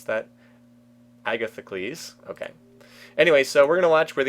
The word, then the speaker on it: Agathocles: How do I pronounce that? Agathocles.